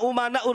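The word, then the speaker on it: أمناء: bin smit Al ulama umanaur rusul Tapi bacanya Al ulama amanaur rusul saya katakan salah kenapa Karena di sini umana jmaah taksir ya para ulama itu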